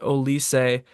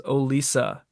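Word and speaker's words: Olise: one of the announcers continuously throughout the match pronounced ois uh as oisa so I guess for today it wasn't Michael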